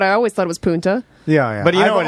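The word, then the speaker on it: Punta: you let's stop there Puna Puna yeah it's Puna when he said P I was like what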